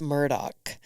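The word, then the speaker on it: Murdaugh: I was just Murdoch no no no it's Murdoch it's spelled Murda but that is the south in that Community it's Murdoch okay that's good to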